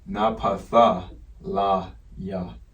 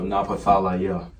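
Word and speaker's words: נפתלי: So last letter of the Paleo-Hebrew alphabet, Napathalaya. Okay, the L sound, and then the Ya is the Z with the dash going through the middle. So Napathalaya.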